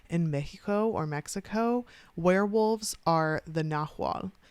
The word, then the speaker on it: Nahual: In Mexico, werewolves are the Nahual, sometimes spelled with an H and sometimes spelled with a G, but it's pronounced the same way.